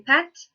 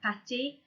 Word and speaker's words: pâtes: Or les pâtes, which is pasta, not to be confused with pâté. The difference in spelling is that pâté has an accent on the E, okay, to let you know how to pronounce it differently. So it's les pâtes for pasta.